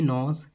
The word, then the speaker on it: know: इसको नो नहीं बोलना है, इसको बोलना है नो। के is silent in this word, okay.